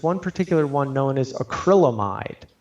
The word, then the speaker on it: acrylamide: And in vegetables, there's one particular one known as acrylamide. Some people pronounce it acrylamides with an S. It's not correct.